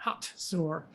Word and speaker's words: Hazor: it's spelled hazer but it's pronounced with a t hot sore uh an old testament